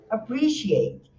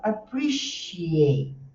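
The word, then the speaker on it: appreciate: Olha só o nosso chuá de novo, né? E a a sílaba tônica é o segundo. Então fica apprciate este esse sonzinho aqui com essa pobrinha aqui em pé é o som.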